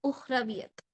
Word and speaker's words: Ukhrawiyat: Ukhrawiyat. K is silent. Ukhrawiyat.